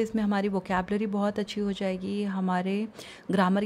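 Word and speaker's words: هذا: अब हाज़ा को ऐसे भी लिखा जाता है और ऐसे भी लिखा जाता है। जब आप ऐसे लिखते हो तो भी इसका प्रोनाउंसिएशन हाज़ा ही होता है।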